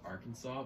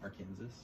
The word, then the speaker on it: Arkansas: Did you know that the state is pronounced Arkansas, but the river is pronounced Arkansas?